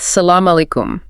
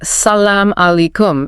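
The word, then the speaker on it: السلام عليكم: You can't go wrong starting with salamkum. Phonetically something like salam allayikum it means peace be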